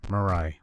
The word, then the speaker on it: MURI: just looks the part this is murray mirai we'll call it murray it's easier to pronounce for windows a 2013